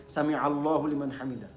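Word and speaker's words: سمع الله لمن حمده: আইন ওইটা, এটা জেনে রাখবেন, আইন উচ্চারণ করছেন আপনি, আইন একটু শক্ত করে, সামি আল্লাহু লিমান হামিদা।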